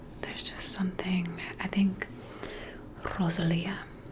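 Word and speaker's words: Rosalía: just something i think rosalia that's the way she likes to say her name she likes to roll her r's she did the asmr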